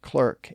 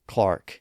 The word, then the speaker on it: clerk: That's why Americans say clerk and Derby, and most Brits say Clark and Derby.